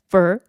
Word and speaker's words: for: 요거 발음 하실 때 for your 이렇게 되지 않죠 for for 굉장히 짧게 나고 for for for troubles 이렇게요 진짜 차에 사세요 그렇게